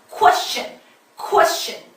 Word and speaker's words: question: question may I have a question 이러잖아요. 쾌수천 아니고 코입니다. 그 워를 빼먹고 쾌수천 이러시는 분들 되게 많은데요. 워 빼먹지 마시라는 얘기예요. question okay?